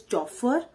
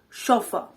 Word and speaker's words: chauffeur: say that the spelling it looks like the pronunciation is chopper or chauffeur but actually the pronunciation is chauffeur now shofa means that someone who drives a